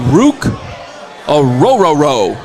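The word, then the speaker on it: Ruke Orhorhoro: we are talking about Rook aoro that's actually how you say his name aoro aoro sounds like a Dog Rook aoro out of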